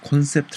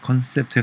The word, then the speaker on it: 콘셉트: 들어봤을 용어와 컨셉트 뭐 표준은 콘셉트 라고 하는데 현장 발음이 컨셉트에 가까워서 전 컨셉트의 표기를 합니다